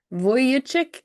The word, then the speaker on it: Vujicic: Nick Vujicic is gonna be the hardest.